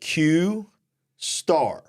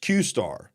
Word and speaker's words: Q*: open AI believe that qar no pronounced qar you see the little ASD it's called qar could be a breakthrough